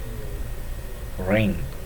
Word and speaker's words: wring: W, here W becomes silent in WRING. Ring and write, we are quite familiar with the word write.